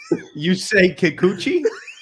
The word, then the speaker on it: Yusei Kikuchi: Yusei Kikuchi.